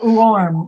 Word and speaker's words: warm: problem with the word warm warm warm yes beautiful warm whoa the trick for that is to start with the oo sound ooh and then arm warm replace the top with an oh i can see patty's